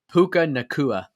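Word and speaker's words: Puka Nacua: Puka Nakua.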